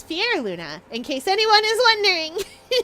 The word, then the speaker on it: Fyerluna: Uh, the number of people that pronounce me as Fire Luna is very high. It is Fier Luna, in case anyone is wondering.